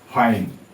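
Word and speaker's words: fine: এফ ই তারপরে দেখো ফাইন এফ আই এন ই উচ্চারণ হবে না লাইন এল আই এন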